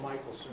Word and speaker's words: Michelson: It's actually Michelson.